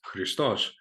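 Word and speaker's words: Χριστός: So the word Christ ultimately comes from the Greek word, and in modern Greek it's pronounced Christos, right, which means the anointed one, Messiah, and all that.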